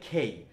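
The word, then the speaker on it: K: তাহলে সোজা কথা হচ্ছে যে এটা কে না, এটা হচ্ছে খেই।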